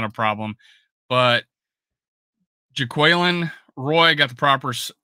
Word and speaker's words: Jaquelin Roy: But Jaquelin Roy, got the proper pronunciation now.